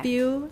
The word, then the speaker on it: spew: Spew, stew, skew. Good. All right. So spew, we definitely have the y sound in American.